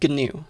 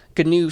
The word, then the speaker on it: GNU: spanish new but no this is gnu with a hard g and it stands for